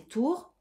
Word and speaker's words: Tur: Tur, prononcé tour, tour et sour.